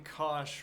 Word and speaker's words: cosh: The name Cosh rhymes with gosh, apparently. Whereas the name Cinch is pronounced cinch. Sure. Tanch, seach, coseach, cotanch, respectively. If you say so. Using the definition of Cosh and principles of physics,